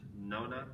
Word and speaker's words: Nona: I think her name's pronounced Nona. Yes.